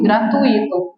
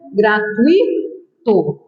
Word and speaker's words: gratuito: gratuito Opa professora eu também já ouvi muito gratuito mas tá errado não é um iato tá a correta separação é essa aqui ó gratuito é um de tumbo não é um iato